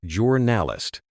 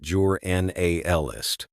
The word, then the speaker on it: journalist: For pronunciation, stress the first syllable in journalist juralist, not jur nist.